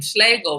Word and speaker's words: Schlegel: but i do remember his name schlegel rhyming with bagel and i only remember